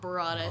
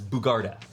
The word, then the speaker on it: Bugarda: We keep saying it wrong. Bugarda. I'm so sorry. Bugarda. Bugarda. I wrote it down wrong. That's how you spell it. I Is wrote it- Bugarda. It's Bugarda.